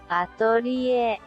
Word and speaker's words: Atelier: be pronounced in Japan, atorie. This actually brings us closer to the French word the game's name is based on. Atelier, atelier, atelier.